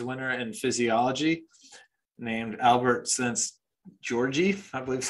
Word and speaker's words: Szent-Györgyi: So there's a quote by a Nobel Prize winner in physiology named Albert Szent-Györgyi, I believe is how you'd pronounce it.